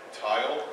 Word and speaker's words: TeIL: I'd like to tell you a little bit about TeIL, that's how I pronounce that, Tensor Intermediate Language, or TeIL for short.